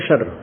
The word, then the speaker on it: क्षर: क्षर अक्षर, क्षर, इसको वैसे उच्चारण करते हैं शर, शर, लेकिन हम समझाने के लिए इसको देसी भाषा में बोला, अपने संत भाषा में, क्षर पुरुष और अक्षर पुरुष।